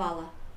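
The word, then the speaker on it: challah: Hala. Oh, really? It's not challa? It's hala, like the hala bread. It's braided. I never knew it was hala.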